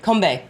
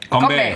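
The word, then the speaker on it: 건배: How do you say Korean cheers in moonshine, kombae. Konbae.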